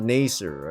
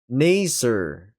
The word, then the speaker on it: Naser: Naser. With us sound like in father.